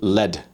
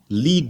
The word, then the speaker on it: lead: Then you've got the metal lead, right? This is very harmful for you. And then lead the way. And then if you say, I led the way, it's L-E-D.